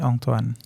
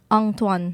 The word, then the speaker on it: Antoine: In French, we kind of say it like in Thai, Antoine. Antoine. ใช่ครับ Antoine. Yeah. Okay.That's cool. So it's different. It's a little different in English. It'll always be because the way they pronounce the A-N, Antoine, N.